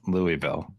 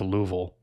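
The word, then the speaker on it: Louisville: says it's headquartered in Louis bille Kentucky um don't tell a Kentucky in that because they'll correct you and say it's pronounced louville all right my bad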